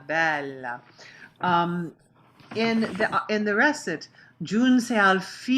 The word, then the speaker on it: bella: And when you said, Vieni non tardare, gioia bella, you really extended that la. And it's bella, bella, bella.